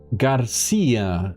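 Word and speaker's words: García: Garcia, accent on the last syllable. Oh. Okay. So, it's Garcia.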